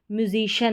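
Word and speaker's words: musician: हो गया कि वो म्यूजिशियन है क्या है वो म्यूजिशियन तो म्यूजिशियन ना बोलके म्यूजिश बोलेंगे यानी कि सी आई ए एन का उच्चारण शन करके हो गया है और स्पेलिंग भी हम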